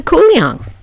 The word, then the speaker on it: Kuliang: welcome to kouang and welcome to guling they're one in the